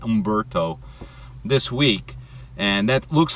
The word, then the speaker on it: Umberto: become a tropical storm maybe Umberto the H storm that's how you pronounce it Umberto this week and that